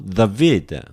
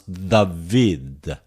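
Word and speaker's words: Δαυίδ: Epsilon together, af or av. Okay, there is a vowel sound which is following this diphthong. Then we have to pronounce David.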